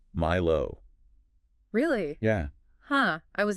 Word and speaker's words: MILO: Yeah.</b> <b>...did you know MILO</b> <b>is pronounced "my-low"?</b> <b>Really?